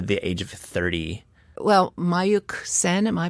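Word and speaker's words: Mayukh Sen: Well, Mayuk Sen, am I pronouncing his?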